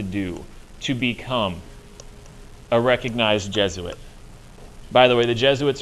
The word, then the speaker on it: Jesuit: get the pronunciation because looking at that word you might think it's j sweets or j suits or something like that it's not it's jesuit jesuits are uber priests